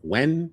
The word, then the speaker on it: Nguyen: I still don't know how to pronounce it. Nguyen? Nguyen. Nguyen. Yeah, Nguyen. You know what I'm talking about. Nguyen. Yeah, when.